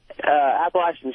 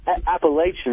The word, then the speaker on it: Appalachian: Yeah, I want to talk to Patrice about him cracking on Appalachian State. And it's not Appalachian, it's Appalachian.